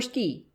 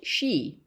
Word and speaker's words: Ski: "Yes'm, Ski, Elmer Ski. No'm, not pronounced she.